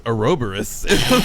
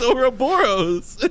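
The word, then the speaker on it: Ouroboros: and he just goes he goes aeroborus just like no it's over boros okay i'm saying like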